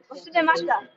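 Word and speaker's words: 忘れました: Wasudemashita.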